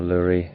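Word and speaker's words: lourie: And that's a grey lowry or lurry, however you want to pronounce it.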